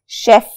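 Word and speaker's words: chef: अब शेफ की स्पेलिंग्स और उसकी प्रोनाउंसिएशन जरा ज़हन में रखनी है। नॉर्मली जब सी और एच इकट्ठे लिखे जाते हैं तो च की साउंड आती है, जैसे CHAIR इज अ चेयर। लेकिन यहाँ पे सी और एच जब इकट्ठे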